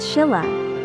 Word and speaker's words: Silla: At that time, Korea was divided into three major kingdoms: Goguryeo, Baekje, and Silla, pronounced Shilla.